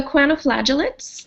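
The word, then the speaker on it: choanoflagellates: of them properly right so quantoflagellates um the word is kind of a compound so coano means collar and flagellates obviously refers to the flagella and so these are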